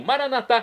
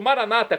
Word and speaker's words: maranatá: E agora eu clamo, maranatá, como dizemos nós católicos, ou maranata, como dizem nossos irmãos separados, os evangélicos ou protestantes. Não importa a pronúncia, o significado é o mesmo.